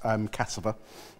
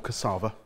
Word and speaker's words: cassava: That's cassava. Or cassava, depending on how you want to pronounce it.